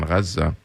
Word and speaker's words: Gaza: So if you imagine the area there in Gaza, Gaza is the Arabic pronunciation of Gaza.